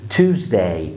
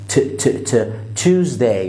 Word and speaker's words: Tuesday: عندنا بعد كده دي بقى فيها تركيز غنونة, حاول تضم شفايفك معايا وقول Tuesday Tuesday, وكل يعني حاول تطلع تتفتف كده في الاول وانت بتقول تش, لان التي هنا قويه مع اليو في الانجليش بتنطق تش Tuesday.